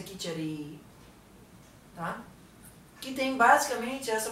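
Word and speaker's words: kitchari: onde você vê mas eu escrevo assim k i c h a r aí pode ter dois s se for inglês ou dois is ou e ou I com traço em cima mas a pronúncia kiter tá que tem basicamente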